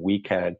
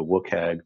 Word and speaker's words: WCAG: Internationally, we have the Web Content Accessibility Guidelines, which is abbreviated WCAG and pronounced anything from WCAG to WCAG to some things that I probably haven't heard.